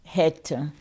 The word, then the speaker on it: Chet: Alors, Het, ça s'écrit Chet, ça s'écrit avec C-H-E-T, mais ça se lit Het.